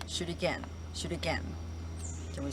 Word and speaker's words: shuriken: blade inside of the hand and it is pronounced shoot again shoot again can we say that all together